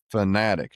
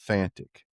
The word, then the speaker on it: Fanatic: It's been out a while, and I guess I was saying it wrong. It's Sitka Fanatic, not Fantic.